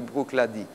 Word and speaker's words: Bruichladdich: distillerie brook l'a dit ça s'écrit bruichladdich mais ça se dit boucle a dit voilà c'est sur l'île